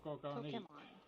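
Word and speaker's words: Pokémon: Pokemon. It's actually Pokemon. Pokemon. It's Pokemon. Pokemon. Well, Japanese. Oh, the accent is on the second syllable.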